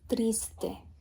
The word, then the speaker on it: triste: Algunos son, and then the word for sad is triste. Triste. And that can be a little hard with that kind of T and that kind of R.